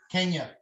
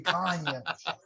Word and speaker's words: Kanye: Kenya. Kanya. Kanye, excuse me, Kanye. I'll tell you what, I yeah, even right now, pronounce it I wrong.